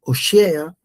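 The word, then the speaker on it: הושע: Un poco de lo que veíamos era cuál era el nombre de Oseas, ¿sí?, que era libertar o salvar, ¿sí?, Oshea, como se pronuncia el nombre, Beeri, que era el padre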